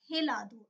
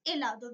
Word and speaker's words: helado: It's not helado. It's helado because H is silent in Spanish language.